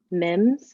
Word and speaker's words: Mims: And with that, I will pass it on to Mims, is that right? Yes, you pronounced it correctly.